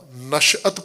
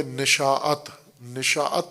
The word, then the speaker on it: نشأت: ہے۔ نشو و نما، نشأت پانا، نشأت حاصل کرنا، جیسے اردو میں تلفظ کیا جاتا ہے نشاءت، نشاءت نہیں نشأت۔ نشأت ثانیہ لفظ سنا